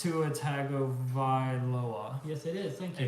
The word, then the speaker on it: Tua Tagovailoa: But it's Tuatagavailoa. Yes, it is. Thank you. It's actually spelled like it's pronounced, believe it or not.